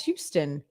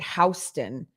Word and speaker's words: Houston: guys kept calling it houston which is how they pronounce it in new york because they have houston street and i was like